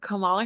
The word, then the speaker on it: Kamala: Just asking questions of Kamala Harris and Jeffrey Epstein. Kamala is actually the right pronunciation.